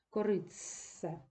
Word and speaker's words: коритце: заквітшати заквітшати і коритце точно так же нещасний Т знову втрачає свою особливість і уподібнюється ц корицсе Тобто ви зараз прослідковуєте